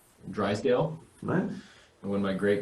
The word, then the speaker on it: Drisdelle: Yeah, it's a French version of a Scottish name. Drisdelle.